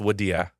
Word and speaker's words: Wadi: My middle name is it's spelled Wadi, but it's pronounced Wadia.